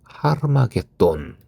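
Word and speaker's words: הר מגידו: 히브리어 발음으로 하르마겟돈 이라고 하는데 하르는 산이라는 의미라고 하고요.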